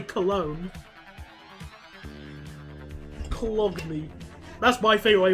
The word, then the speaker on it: Cologne: Cologne as Colgun. Colgun. Even I knew how to say Cologne. Cologne. That's my favourite way of mispronouncing it.